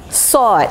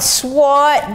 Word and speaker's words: sword: What is Damocles sword? Pronunciation not sword, but the W is silent.